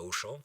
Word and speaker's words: Auchan: Auchan, c'est comme aller au champ. Sauf que ça s'écrit Auchan, comme vous le savez, hein, et que ça ne se voit pas comme ça s'entend.